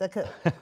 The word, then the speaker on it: Aku: Oh, did I say, because I called you Aku, but it's Aku. Right, okay, I've you're got fine. the accent on the wrong syllable.